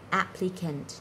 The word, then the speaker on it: applicant: Và từ cuối cùng mình đọc là applicant, nhấn vào âm đầu.